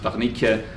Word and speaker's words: Wernicke: And Wernicke should really be pronounced Wernicke, and Broca should be really pronounced Broca.